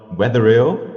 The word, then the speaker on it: Wetherill: And today I'm here with Wetherill. I hope I pronounced that right.